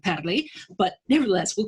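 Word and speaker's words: Parler: i assume they pronounce they mispronounce parlor although it should actually be padley but nevertheless we'll call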